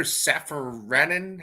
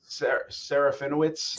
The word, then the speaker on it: Serafinowicz: Peter Safaranan? How do you say that guy's name? Serafinowicz.